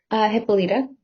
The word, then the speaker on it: Hippolyta: Hippolyta. Hippolyta, our nuptial hour draws on apace.